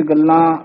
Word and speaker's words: गल्ला: कूड़ियां तुद भावै परवान, उत्थे श्री राग दे विच गल्ला लल्ले दे कन्ने उत्ते बिंदी लगी हुई है, इथे गल्ला ही उच्चारण करना है, सुन गल्ला आकाश की कीटा आई रीस।